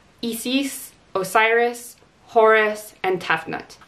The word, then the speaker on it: Isis: osiris horus and tefnut i particularly liked how they did the pronunciation of hathor and isis because i don't know about you but for the majority of my life i pronounced that as hathor and isis and i think they might have changed east because of the similarity to a certain terrorist group but aside from that